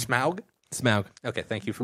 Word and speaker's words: Smaug: Smaug. Okay, thank you for pronouncing it correctly. I did pronounce it correctly. I would have jumped down your throat if you would have said Smog.